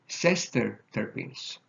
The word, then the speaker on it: sesterterpenes: Next one, make sure that you are careful about pronunciation, are called sesterterpenes.